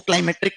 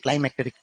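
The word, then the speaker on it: climatic: इसको क्लाइमेट्रिक क्लाइमेटिक मत बोलो। इसको बोलते हैं क्लाइमेटिक।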